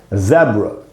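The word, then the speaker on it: zebra: तो ये दोस्तों, जैसे ज़ेब्रा या ज़ीब्रा, दो उच्चारण है इसके, ज़ेब्रा या ज़ीब्रा। अच्छा दोस्तों, ये जो एंड में ए है उसको आ नहीं पढ़ना है, आधा अ पढ़ना है।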